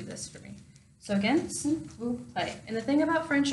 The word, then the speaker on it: s'il vous plaît: S'il vous plaît. So phonetically it breaks down into sill, like windowsill, vous, like the first part of voodoo, and then play, like you'll play.